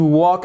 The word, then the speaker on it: walk: fait la remarque pardon le l ne se prononce pas to walk out l'anglais la prononciation en